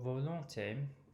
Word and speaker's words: volonté: the Notre Père because that first syllable is open, vo, and I think that generally the Anglophones will tend to pull back that L. So the L should be the next syllable, longté, or rather long, and then te to close the word.